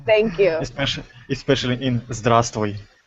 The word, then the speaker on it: Здравствуй: All I know is Здравствуй. Oh, Is it correct? Yes, good pronunciation.